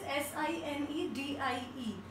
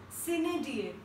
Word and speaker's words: sine die: So the first word is S-I-N-E-D-I-E and we pronounce it like sine die.